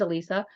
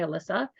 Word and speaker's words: Alysa: my name for example my name is Elisa 99 of the time people say it wrong they say Alyssa and I could either